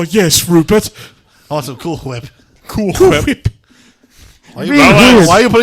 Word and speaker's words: Cool Whip: are you putting so much emphasis on the H? What do you mean, Brian? I'm just saying cool whip. Say cool. Cool. Say whip. Whip. Now say Cool Whip. Cool whip. That's how you say it.